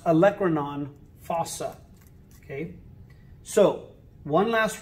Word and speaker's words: olecranon: depression or divot is called the olecranon fossa some people like to say olacranon and you could say it that way it helps you spell it correct but it's pronounced olecranon fossa okay so one